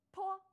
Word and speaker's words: p: 他的读音呀和爬山坡的坡很像，也是要